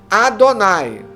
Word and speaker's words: Adonai: se refere como tetragrama então o tetragrama sagrado ele é pronunciado pelos judeus Como Adonai ou Senhor por isso que nossas